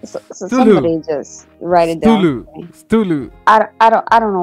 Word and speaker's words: Cthulhu: Look, so somebody just write it Stulu. Down. Stulu. I don't know what I'm saying. I've never known how to say it. Cthulhu. Cthulhu is how you say it.